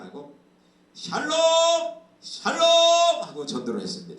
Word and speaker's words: 샬롬: 샬롬이 뭐예요 이스라엘의 그 말이죠 인사 말이죠 평안 샬롬 한번 해보세요 샬롬 샬롬 근데 그분이 그 이분이 좀 이렇게 그 지방 분이라 그러지 발음이 좀 샬롬 이렇게 정확히 나오지 않고 샬롬